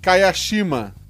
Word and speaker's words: Kayashima: As pessoas geralmente se confundem na pronúncia do si em Kayashima, que na verdade se lê Kayashima.